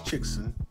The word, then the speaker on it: Chixen: week big so let's talk about chicks yes pronounce chickson yes ask the owner yes that is how